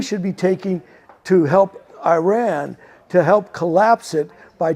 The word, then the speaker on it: Iran: I've been told it's Iran is the proper way to pronounce it.